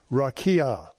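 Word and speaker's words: raqia: number 7459 that the word for firmament is rakia. Rakia. In English, you spell that R a QA.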